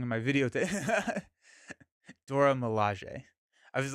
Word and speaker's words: Milaje: The E on the end of Dora Milaje is pronounced the way at the E of Okoye. Milaje.